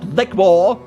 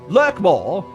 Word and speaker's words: Lurkmore: Not lickmore. Lurkmore. It's pronounced lickmore. No, it's lurk. It's It's literally lurk. It's l U R K, not L I C K.